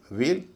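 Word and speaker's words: veil: लेकिन इसमें व का उच्चारण भी अलग है और ए का उच्चारण भी अलग है। वी इ आई एल वेल डब्ल्यू E double L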